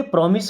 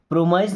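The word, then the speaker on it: promise: देखिए, प्रॉमिस का मतलब होता है वादा करने, इसको प्रोमाइज नहीं बोलते। क्या पढ़ते हैं? प्रॉमिस।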